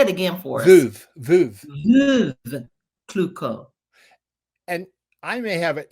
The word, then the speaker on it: Veuve Clicquot: Well, first of all, let me thank you for pronouncing Veuve Clicquot. Did I say it right? Veuve Clicquot. Say it again for us. Veuve. Veuve Clicquot.